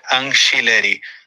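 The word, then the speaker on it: Angileri: ó vamos ver aqui Paulo ancheri como se fosse com ch ou com x ancheri ancheri tá então nós vamos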